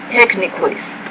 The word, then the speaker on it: techniques: Conditioning, associate, techniques, discussion. Now that word's techniques. Techniques, and stress is on the second syllable.